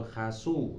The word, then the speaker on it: คาซู: เครื่อง เปล่า นะ ครับ คาซู หรือ ว่า คาซู่ นะ ครับ ก็ ออก เสียง เป็น คาซู ดี กว่า นะ ตัว นี้ ผม